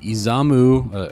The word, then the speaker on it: Izamu: All right, you're looking at Izamu. Again, I think that's how it's pronounced.